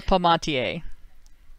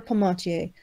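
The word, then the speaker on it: Palmatier: Emphratas, Zed, Angry Harry, Tara Pommy, I can't pronounce her name. Dr. Tara Pomatier. Dr. Tara Pomatier, Paul Elam, Hawaiian Libertarian, Elusive Wapiti, Obsidian, Bernard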